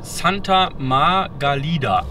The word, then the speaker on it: Santa Margalida: Santa Margalida, so wird das ausgesprochen.